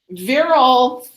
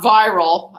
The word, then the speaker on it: virile: virile okay so um virile in this case virile not viral as i first pronounced it virile is referring to